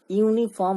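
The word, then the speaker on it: uniform: হবে N this is ইউনিফর্ম rule আবার দেখো ইউনিফর্ম এখানে এখানে দেখো ইউনিফর্ম অর্থাৎ এখানে ইউ টা উচ্চারিত হচ্ছে অন্তস্থ ইউ টা উচ্চারিত হচ্ছে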